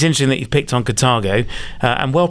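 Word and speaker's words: Carthago: It's interesting that you've picked on Cartago, and well pronounced there, Keith.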